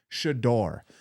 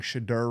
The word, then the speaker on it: Shedeur: I've been saying Shadur wrong. I got a lot of people in the comments telling me I'm saying it wrong. I need to study. It's shador. Shador.